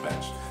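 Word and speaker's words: Bench/: It's spelled or written as Bench with a hash, but I'm just gonna pronounce it Bench, which is a Filipino fashion brand.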